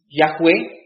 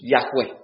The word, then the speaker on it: Yahweh: Ahora, los teólogos hoy en día creen que Yahweh es la verdadera pronunciación del nombre de Dios. Yahweh. Dice que estas 4 consonantes deben leerse como Yahweh.